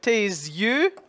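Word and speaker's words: tes yeux: we talked about and usually the S is silent in that word but here again it becomes voiced and becomes the sound and the Y becomes a glide so you get tease you and this is closed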